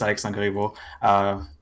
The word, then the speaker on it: Alexandre Corriver: You got it's a French name, so you got it pretty well, actually. Just Alexandre Corriver.